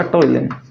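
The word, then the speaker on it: ptyalin: Amylase और दूसरा आपका टाइलिन। पी से स्टार्ट होता है टाइलिन, अंग्रेजों की देन है, ठीक है। पी वगैरह साइलेंट रहता है, इसके अंदर कोई दिक्कत नहीं है सर।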